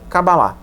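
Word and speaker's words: קבלה: se diz kabbalah também a forma em hebraico da pronúncia é kabbalah por aqui é uma palavra a maior parte das palavras hebraicas tem pronúncia a oxítona né maior parte delas futebol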